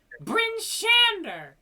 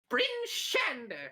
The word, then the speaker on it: Bryn Shander: Every time you say Bryn Shander, you just have to. Have to punch it. Yeah. That's how it's pronounced, Yeah, that's right? nice. Bryn Shander. Yeah, am I doing it right? Yes. Bryn Shander. Yes. Bryn Shander. Yeah. Chat. Emphasis on the Shander.